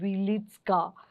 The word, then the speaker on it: Wieliczka: So, it's an underground mine and I never get this right, the pronunciation. So, bear with me, but I think it's called Wieliczka Salt Mine.